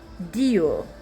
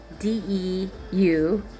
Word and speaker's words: Deuel: Elisap, son of Deuel, Deuel, like dual with an E, an extra E before the U, okay.